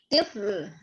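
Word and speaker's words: طفل: Tifl, atfal. Tifl, atfal. Oke. Silakan diperhatikan di sini huruf to ya, bukan huruf ta. Jadi penulisannya, pelafalannya harus ditekankan.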